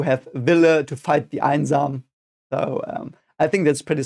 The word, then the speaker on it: Einsam: Einsam, again, we have the E and the I, which is pronounced I.